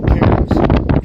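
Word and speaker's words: Cairns: It's Tracy Karens. Tracy Karens. And then last name is spelled C A I R Ns.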